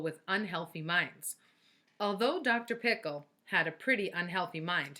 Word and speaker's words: Pickle: pickle actually his name was dr. pickle with the accent on the second syllable but that wasn't why everyone called him dr.